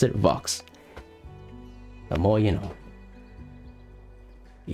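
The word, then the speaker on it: Vaux: But Nemo Vox is swift as a history lesson.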